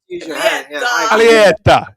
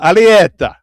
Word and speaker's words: Alietta: Well, I mean, my uh my last name, Alietta. Uh nobody nobody can can pronounce it or spell it, so I I understand. Alietta. Exactly. Fetta. Alietta.